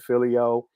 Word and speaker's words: phileo: We got, phileo, what Mm-hmm. some people pronounce it filio, the love for your brother, common man.